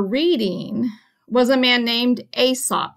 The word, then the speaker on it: Aesop: was a man named Aesop you just pronounce that like a and sup Aesop was a Greek